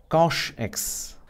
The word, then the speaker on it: cosh: see that you know pronounce this as cosh X if you want you